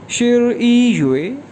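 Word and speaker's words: 十一月: इसी तरह नवंबर जो है 11वां महीना है साल का, तो नवंबर को कहेंगे शिर ई युए। शिर ई हमने पढ़ा था 11 के लिए, तो 11 मंथ शिर ई युए, शिर ई युए।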